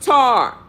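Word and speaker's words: Ptah: called African py me is rightly pronounced tar the African pygmies are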